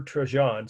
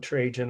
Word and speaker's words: Trajan: empire by the emperor trejon some call it trajan i've heard pronounced both ways but the spelling is